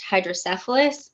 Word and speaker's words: hydrocephalus: hand and I was I said actually it's pronounced hydrocephalus and I have it and he just was